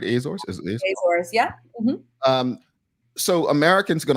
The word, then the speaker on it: Azores: Did I pronounce that right? Azores? Azores, yeah.